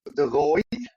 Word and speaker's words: de Rooij: good me how did I go with those pronunciations M well good enough my name is De Roy which isy okay and my wife is actually